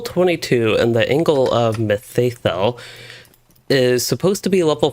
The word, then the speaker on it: Mitheithel: of myth let's see i have heard the it is pronounced as methathol so angle of methathol rather so that is something